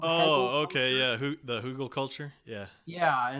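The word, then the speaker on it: Hügelkultur: I've done a Hager culture project, which is a form of permaculture. It's Uh-huh. I think it's spelled like it's a German word, Hegel Oh, okay, culture. yeah. The Hugel culture, yeah.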